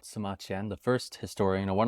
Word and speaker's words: Sima Qian: His name is Sima Qian, which rhymes with Sima Tian, and I like history, so that's why I chose myself that name.